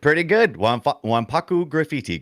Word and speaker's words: Wanpaku Graffiti: Here's what the game, and if you pronounce it, I hope I get this right. Splatterhouse Wanpaku Graffiti. Pretty good. Wanpaku Graffiti, correct. Yep.